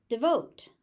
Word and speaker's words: devote: Devote. Again, first syllable is very short. All of the stress stress goes into the second syllable.